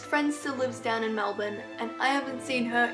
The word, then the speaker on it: Melbourne: going to it's pronounced Melbourne like there's no vowels in the end it's not Melbourne it's not Mel Ben it's just Melbourne I would know because